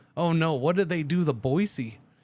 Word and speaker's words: Boise: The Boisey. How do they say Boisey in Oklahoma? Oh no. How do you say Boisey in Oklahoma? I'm I'm I'm intrigued now. I'm intrigued. Boys, that that makes sense.